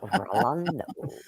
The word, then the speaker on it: Rolando: You gotta roll your R's. Rolando.